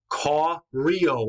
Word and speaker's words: Koryo: Koryo is how you pronounce it, so it's clear where Korea will get its name.